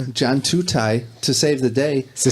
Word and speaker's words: Tutaj: How do you pronounce your name? Tutaj.